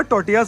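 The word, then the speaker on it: tortillas: टोटीलास भाई, L silent होता है, टोटियास, ठीक है।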